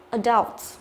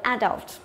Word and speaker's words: adult: Cách thứ nhất là nhấn vào âm thứ hai, adult, adult, nhớ chưa? Và cách thứ hai là theo kiểu Anh Mỹ, người ta nhấn vào âm thứ nhất, đọc là adult, adult, ok?